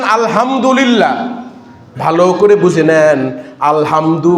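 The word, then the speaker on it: الحمد: ভালো করে বুঝে নেন আলহামদু বলতে আলহামদু একটা আছে ছোট হা গোল আরেকটা আছে বরহা আলহামদু।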